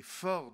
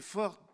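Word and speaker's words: Fors: Et il dit, cette Constitution s'appelle les Forts de Béarn, Forts ça s'écrit F-O-R-S, et c'est l'écho du latin forum, hein, vous savez, la place publique à Rome où on faisait la politique.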